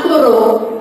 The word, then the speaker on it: CoRoT: Il primo cacciatore di pianeti è questo qui, che vedete, si chiama Corot. Lo pronuncio alla francese perché è un satellite, un